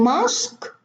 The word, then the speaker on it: mosque: And mosque, also no U, no E. Even the E is silent.